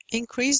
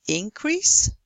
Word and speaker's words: increase: Increase doesn't have a stress mark because if you have a noun, it's increase. If it's a verb, it's increase, with the stress on the second syllable.